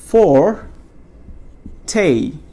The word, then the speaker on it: forte: এই ওয়ার্ডটা কেউ চিনি কি না, FORTE, FORTE, তাহলে এইটা উচ্চারণ হচ্ছে ফর টে।